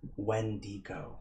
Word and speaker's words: Wendigo: windigo when it go how do you pronounce it was it winigo or wendigo anyone know nope wendy go thank you appreciate that okay we